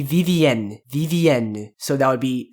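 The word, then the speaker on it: Vivienne: French name in French This Woman's name would be vvn vvn so that would be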